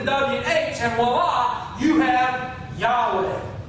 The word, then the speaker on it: Yahweh: say this name so the Hebrew language it doesn't have vowels and stuff it has lots of Yoda and eyes and titles and things like that in it that kind of describe how to say the words but it has no vows so we're not really sure how it's supposed to stand we don't really know how to say this thing and so the reason